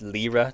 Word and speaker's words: lira: Pronounced lira, not lyra.